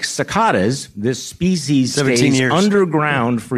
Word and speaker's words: cicada: It's pronounced cicada, just so you know.